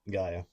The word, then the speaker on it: Gaia: Oh, I I only uh I pronounce it the way Captain Planet pronounced it. So Gaia.